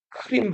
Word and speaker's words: 크름: 여기가 크림 반도예요. 영어로 하면은 크리미아 반도라고 읽고 선생님도 크림 반도라고 배웠고 대부분 다 크림 반도라고 알고 있는데 최근에 표기가 바뀌었어요. 여기를 크름 반도라고 해요.